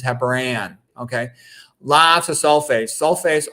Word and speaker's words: heparan: The important thing to know, first of all, note that the heparin is spelled AN at the end. That's to differentiate it from the medicine, which is spelled IN. Heparin, this is heparan, okay?